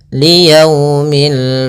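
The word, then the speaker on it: لِيَوْمِ: Dalam pelafalannya harus lembut liyaumi.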